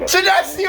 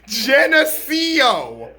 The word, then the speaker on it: Geneseo: east moline morrison geneseo colonel sedasio are you joking me it is pronounced geneseo idiots cordova london cleveland now